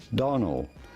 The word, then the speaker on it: Domhnall: As far as the pronunciation of his first name is concerned, so simply say Donald Gleeson.